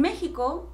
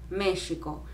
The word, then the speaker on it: México: escribe méxico pero español se debe leer méxico como si fuese con jota no méxico méxico no es la forma correcta de pronunciar en español en inglés probablemente pero no en español ok se conservó ese